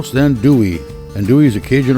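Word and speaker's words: andouille: Pronounced then dewy.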